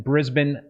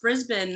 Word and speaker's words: Brisbane: coming to us live from down under in Brisbane, Australia. So it's Friday morning. Happy Friday there to you. Thank you. Thank you. Just had my first coffee. I'm feeling pretty good. I love how you pronounced Brisbane.